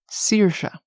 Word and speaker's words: Saoirse: how to pronounce before it's pronounced Saoirse oh yes Saoirse Ronan